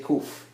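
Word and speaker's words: קוף: Kuf is one of the letters. Kuf is like K in English. So most people say kuf or kaf.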